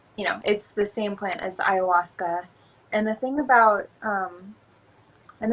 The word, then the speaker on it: ayahuasca: So you went to Costa Rica, you worked, pronounce it for me again. Ayahuasca? Ayahuasca, which is a psychotropic drug.